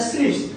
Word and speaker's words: SNP: what is SNP, single nucleotide polymorphism, pronounce as स्लिप्स, ये भी पूछा गया